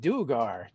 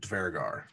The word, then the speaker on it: Duergar: Oh, so Mike Merles today, he said Duergar. That's how we say it. I've always pronounced it Dvergar because it's more Germanic, of the Nordic.